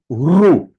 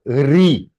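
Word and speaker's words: ऋ: So it is not Re, it is Ru.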